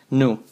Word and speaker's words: knew: And then we have another verb in past, knew. Just remember that for this verb, the K is not pronounced.